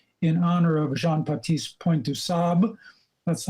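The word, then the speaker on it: du Sable: honor of jean-paul point du sab that's i've learned the french pronunciation dusab that drama didn't materialize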